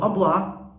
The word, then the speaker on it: hablar: i speak spanish so deal with it so oblah a b for pronunciation purchase there's an age there but it's